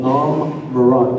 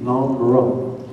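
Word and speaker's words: Nhom Marrott: Again, the POW camp was called Nam Murat, and I'll spell that. N-H-O-M-M-A-R-R-O-T-T, Nam Murat.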